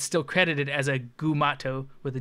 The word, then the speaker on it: Gumato: they call it it's like a mugatu AKA mugato AKA gumato and they like list through like